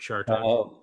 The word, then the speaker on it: Chartoff: time ago, but I was able to tell Irwin that my dad would occasionally be mistaken for the other Robert Chartoff, Oh, but although we pronounce it Chartoff with a soft right, right.